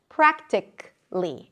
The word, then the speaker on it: practically: For example, practically. It ends with a k sound and then -ly.